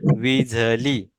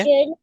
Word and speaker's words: विझली: नी और इसका जो प्रोनाउंसिएशन है ना, वो झ नहीं है. ये है झ. विझली. है ना, क्या बोलना है? विझली. क्या बोलेंगे? विजली विझली. विझली.